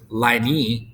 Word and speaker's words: line: Even though you notice that there's another vowel at the end, we don't actually pronounce that vowel. So if it was liney, it would be 2 syllables, but that's not how we pronounce line.